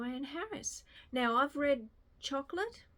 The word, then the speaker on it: Chocolat: Harris now I've read chocolate or Chocolat I think you meant to say it like and um blackberry wine